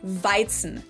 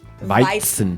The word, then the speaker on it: Weizen: for English native speakers, the tricky parts here are the W, which in German is pronounced like an English V sound, v, and the Z is pronounced like a TS sound. So we say Weizen. Weizen. And Hefe has that E sound that I also have in my name, which doesn't really exist in English, unfortunately, but that's okay.